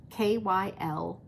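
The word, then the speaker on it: Kiley: So most Kylies are spelled like Kyle, K-Y-L-I-E, Kyle, Kylie. My husband said, it's Kylie, like Riley, K-I-L-E-Y.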